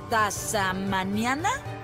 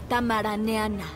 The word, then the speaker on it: tamaraniana: ¿Eres tasamaniana? Se pronuncia tamaraniana.